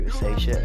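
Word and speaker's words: Risacher: drafted this guy with the first pick Zachary Ria that's how you pronounce it I'll be honest never heard of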